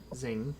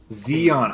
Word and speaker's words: Zeon: You go up to the door and knock on it, and Zing opens the door. Is it Zeon? Zeon. Zeon. I have been saying it wrong.